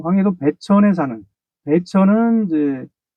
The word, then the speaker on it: 배천: 사건인데 사건의 개헌은 그 어 황해도 배천 사는 배천 이제 휠 100자 내천 자를 쓰는 그까 사실 한자 음들로 하면 천인데 우리 발음으로 우리 음으로 천으로 읽습니다 그니까 우리나라 지병